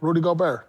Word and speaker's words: Rudy Gobert: year they was up who did you say Rudy gobert okay that's how you say it I just